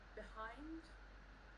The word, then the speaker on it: behind: Nick, can you say behind? Behind. Behind. Behind. It's got a d sound at the end of it.